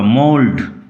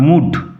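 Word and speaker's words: mould: উচ্চারণ লক্ষ্য কর। মোলড নট মুড। এল এর উচ্চারণ হবে এখানে। মোলডম আ মোল স্যাপলিং ড্র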